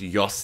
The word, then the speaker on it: Jos: doing a track by Jos Netherland I assume he's Spanish or something and it's pronounced Yos Netherland either way this track